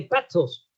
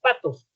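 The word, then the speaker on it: πάθος: La palabra empatía viene de pathos. La T y la H nosotros la usamos la H muda y decimos pathos. En griego sería pathos, como en TD en inglés, como bueno, pathos. ¿Y qué significa la palabra pathos?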